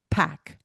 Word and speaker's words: Paik: His last name is spelled Paik, Pack. Okay.